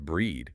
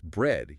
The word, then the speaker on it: bread: By the rule, it should be pronounced breed with a tense high front vowel, but it's not. It's bread, utilizing the lax drop jaw sound.